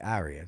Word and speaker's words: aria: Someone commented on one of my videos that I was pronouncing aria wrong because I call it aria. That's the way we always had it here in the UK.